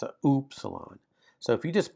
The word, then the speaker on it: upsilon: So that's upsilon. And it's like the French, not the English, oo, oo, oo, oo.